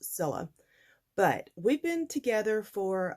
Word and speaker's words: Cilla: name is Priscilla and c-i-l-l-a is simply pronounced Zilla but we've been together